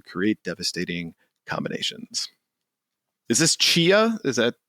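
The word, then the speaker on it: Tchia: Is this Chia? Is that the T is silent?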